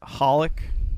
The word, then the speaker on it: HOLiC: of xxx holic um now is it just pronounced holic but we say it like that so you